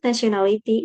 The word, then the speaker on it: nationality: The word nationality is stressed as nationality, syllable breakdown, nationality. The premise stressed in the three syllable NA indicated by the symbol.